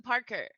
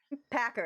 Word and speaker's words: Packer: So I'm gonna play with Madison Parker. Packer. Is it's cool. Packer. It's cool. See, I butchered it.